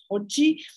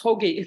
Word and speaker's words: hoagie: And this being Philadelphia, this sandwiches, piled with bologna salami, which I didn't know how to pronounce. I said to my mom, "Oh, they serve something called hoji." She said, "Like what hoji?" It's hoagie, right?